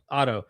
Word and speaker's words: Otto: And when you're explaining John Day, when you're explaining, Otho, is it Otho? Is that how you pronounce it? Eckhart Otto? Otto. Mhm. Yeah.